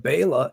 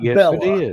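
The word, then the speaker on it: Bela: about my pronunciation of Baya legosi but Baya is the proper pronunciation of the man's name not Bella it's Baya but people have gotten used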